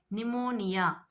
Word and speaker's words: pneumonia: Pneumonia. Pneumonia. Pneumonia. Pneumonia. P silent.